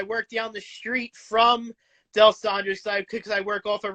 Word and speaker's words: D'Alessandro's: Del Rosa's, I think Del Rosa's. I think that's how you pronounce it. Del Rosa, one of those. Do you mean D'Alessandro's? D'Alessandro, there we go.